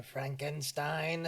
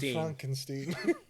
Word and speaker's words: Frankenstein: He's like, Dr. Frankenstein. Yeah. Yeah. It's pronounced Frankenstein.